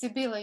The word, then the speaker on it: Sibila: i'm wondering if um sebilla or sevilla i'm sorry if i'm mispronouncing your name if you would like to directly ask ask your question yes sure thank you it's sibila you said it very well thanks um thank you